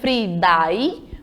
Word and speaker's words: Friday: É escrito como Friday, mas quando a gente pronuncia, coloca um som de I nesse I. Friday, certo?